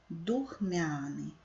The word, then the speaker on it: духмяний: каліграфічно правильно слово духмяний Зверніть увагу що в цьому слові немає апострофа духмяний наголос падає на другий склад духмяний поставте наголос в